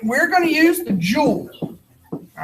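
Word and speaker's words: joule: going to use the jewel all right j-o-u-l-e is pronounced jewel not jowl like somebody's jaws all right the calorie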